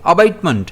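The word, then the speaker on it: abatement: अब इसे प्रोनाउंस कैसे करेंगे? अबेटमेंट जिसमें स्ट्रेस जो है वह बी पर रहेगा।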